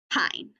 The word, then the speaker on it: pine: say its own name if we see e at the end remember that silent e magicky sneaky however you're hearing it is coming to jump on that vowel to say its own name pine yesterday sometimes you're going